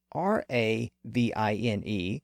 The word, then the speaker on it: ravine: also why v n is pronounced Vine but r a v i n e is pronounced Ravine Vine is an older word that